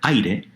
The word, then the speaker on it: aire: That is why the word for air, aire, is 2 syllables, because a and i combine into a diptongo.